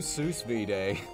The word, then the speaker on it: sous vide: All right, we'll do sous vide.